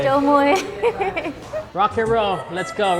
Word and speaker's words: Chôl muŏy: Chau moi. Chau moi. Chau moi.